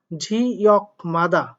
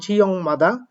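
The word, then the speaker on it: 지역마다: ঝিয়ক মাদা, ঝিয়ক মাদা, এখানে উচ্চারণটা হবে ঝিয়ং মাদা। অর্থাৎ আপনারা জানেন ক বর্গীয় বর্ণের পরে যদি নিউন অথবা মিউন থাকে তাহলে ক বর্গীয় বর্ণ তো উনিশর হয়, তো সেই অনুযায়ী এটা উনিশর উচ্চারণ করবেন।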